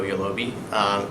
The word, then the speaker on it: Yolobe: stuck in and I like it so go yellow be pronounced yellow B I've gotten all sorts of crazy